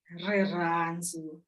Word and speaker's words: Rirhandzu: Rirhandzu. The is very dramatic. You have to kind of drop the syllables in the vowel.